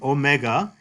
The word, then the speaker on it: omega: This O, omega, is a long O. A long O, as in the word note.